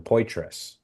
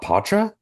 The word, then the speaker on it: Poitras: And so the Maryland guy goes and she tells him, she's like, it's Poitras, Adam Poitras. And he's like, Poitras? Okay. And I'm like, wait, Poitras? Like it's not Patra? She's like, no, it's Poitras.